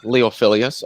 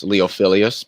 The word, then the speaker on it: Leophilius: apologize gotta what my whistle yeah i'm uh leophilias otherwise known as leophilius but most people can't pronounce that so they just call me leo